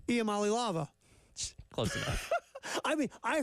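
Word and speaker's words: Iamaleava: All right, so our boy Nico Amali-Lava.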